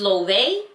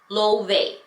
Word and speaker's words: Loewe: don't even confirm you some of you guys are pronouncing wrong too is lovay lovay okay LaVey whatever so